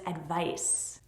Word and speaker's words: advice: Both of these words have the stress on the second syllable, but this one is advise and this one is advice. To advise is to give advice. It's the verb and advice is the noun.